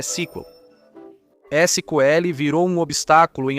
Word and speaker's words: SQL: Já ouviu falar de Squill? Ok, é Sequel.